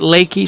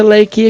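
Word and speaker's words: Laike: And I pronounce it Lakey. Some people pronounce it lake, but they never actually say his name in a cutscene.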